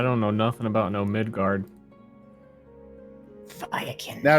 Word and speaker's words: Midgard: I don't know nothing about no Midgard. Firekin. Now, is it pronounced like the Norse mythology, or is it like middle, like guard? No, it's Norse.